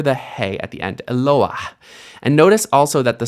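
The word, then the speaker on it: אֱלוֹהַּ: It's actually a roughly breathed hey or mapik hey. You can hear it at the end of the word. So this isn't Eloah, this is Eloah.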